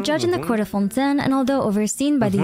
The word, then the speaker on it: Fontaine: It's not even Fontaine, it's Fontaine. This is the proper pronunciation. It's Fontaine. There's a little huh.